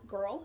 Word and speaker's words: Grrrl: going to be reviewing a company called girl it's spelled g-r-r-r-l they make athletic wear